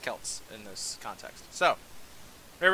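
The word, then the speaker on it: Celts: so here you go and yes it's pronounced Kelts it's not pronounced selts it's pronounced Kelts in this context so here we go uh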